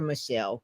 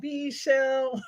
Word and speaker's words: Meshell: Meshell, is it Misha or Michelle? How do It's you pronounce? Meshell. I tell people if you sing it, you'll never get it wrong. Meshell.